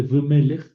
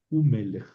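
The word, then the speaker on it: וּמֶלֶךְ: En vez de v melech, u melech. Es decir, la v con sheva se convirtió en shurek, u melech, ¿verdad? Sigue conservando valor consonántico, ¿verdad? Pero se le considera una sílaba aparte. U melech. U melech. Ben más b quiere decir hijo, ¿verdad? Ben es hijo. Y si yo digo y un hijo, v ben, ven que está complicada la pronunciación, v ben, entonces esta consonante se convierte en shurek, u ben, y aquí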